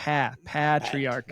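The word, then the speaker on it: Patriarca: I hear uh patriarcha I hear lots of people say Raymond patriarcha pay pay and I have so many people that are like it's not pay it's p patriarcha and I'm like really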